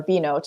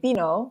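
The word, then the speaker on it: Binnot: oh man because it's because it's B b-i-n-n-o-t and it's you you are supposed to pronounce the T like B note except that I took French for like eight years and so I always want to say bino I'm not pronounce the T like yeah not a French name but there's no French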